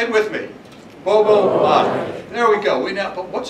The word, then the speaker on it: Gbogboade: The G is silent. Gbogboade. Say it with me. Gbogboade.